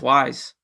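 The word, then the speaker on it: Ys: I mean, yeah, it's pronounced Wise.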